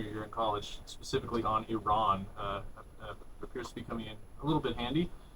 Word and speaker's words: Iran: to the blackboard and he wrote EE-RAN. He pointed at it and he goes, Iran, not Iran. Iran. Yeah. So we're all pronouncing it wrong.